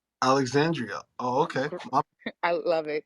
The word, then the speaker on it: Alexandria: Yes, Alexandra. Oh, thank you. Put some respect on my name, Alexandria, all 5 syllables. Alexandria.